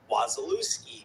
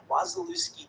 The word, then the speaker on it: Wasilewski: is my name, but in school, it was Wasilewski, because that's how the Americans would pronounce it, which, you know, whatever, phonetically, I guess that's like, or whatever, if you read it, that's, so it was like my whole life, it was Wasilewski. And I'm like, it's really like Wasilewski doesn't like speak to me.